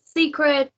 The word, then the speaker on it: Sssecret: My name is Secret, pronounced Secret. So it's Secret SSSECRET New to porn, but not new to the game.